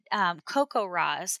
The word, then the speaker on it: CoCoRaHS: It's a little bit adjacent, but CocoRa's.